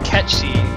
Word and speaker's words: Cait Sith: actual like gaelic word of course gaelic is a ridiculous language nothing is ever pronounced the way it looks phonetically but it's supposed to be pronounced catchy everyone pronounces it cait sith which i think is fine there's no reason for you to know that that's pronounced catching yeah i say titus as